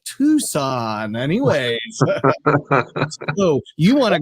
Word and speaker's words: Tucson: trying to type in Tucson t s it's not Tucson it's tuxon I'm sorry just but they pronounce it it tucon anyways so you want